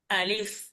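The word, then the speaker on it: ألف: আলিফ, আলিফ আলিফ, আলিফ আলিফ আলিফ, আলিফ আলিফ বলে উপরের দাঁত নিচের ঠোঁটের সাথে মিলবে এবং মাঝখানে একটু বাতাস বের হবে, তাহলে আলিফের উত্তর হবে আলিফ।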